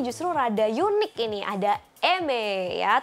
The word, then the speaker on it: Aimer: rada Yuni kini ada MB ya tulisannya Aimere tapi dibacanya adalah MB Yaso Deni lagi naik